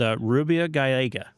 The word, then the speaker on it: Rubia Gallega: called Rubia Gallega. I pronounce that right?